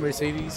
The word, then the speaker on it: Mercedes: Did you know that every E in Mercedes has a different pronunciation?